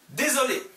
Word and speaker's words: désolé: 여기 désolé 모음 그리고 s 그리고 모음 있으면 s 모음 두 개 사이에 있으면 s 발음 z로 드는 거예요. z. 근데 모음 s 그리고 자음 그냥 그대로 읽어요. s. 여기는 désolé 아니고 désolé 모음 s 모음 désolé.